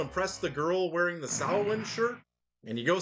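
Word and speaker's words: Samhain: the Misfits before he went solo, it's not pronounced Sam Hayne.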